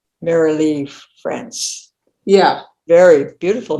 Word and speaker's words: Marilee: Marilee, just like it. But but a lot of people pronounce it Marley. They don't see the I.